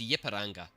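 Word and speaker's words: Ipiranga: Yepanga. Thank you. Is that how you actually pronounce it? You pronounce it as Yipparanga.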